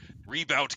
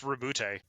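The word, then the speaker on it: Roboute: I'm going to say very American right there. Rebout Guilliman. It's Rebute.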